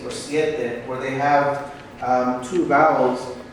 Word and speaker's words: siete: Same thing for siete, siete. So I have the E and the E. Siete.